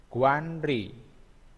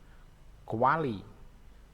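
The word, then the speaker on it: 관리: Ini guanri. Guanri. Bacanya kuali. Kuali ya. Bacanya kuali.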